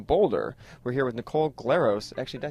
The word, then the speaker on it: Glaros: Well, if you're Greek, you say Glaros. But which I can't roll. I can't roll R's, so I'm glad you did that for me. Glaros works.